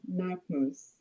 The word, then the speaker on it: Knackmoose: I also um see that Miss uh Knackmoose is online and um ma'am, I'm not sure I pronounced your name correctly. Could you please uh state your name for me? It's Nakmoose.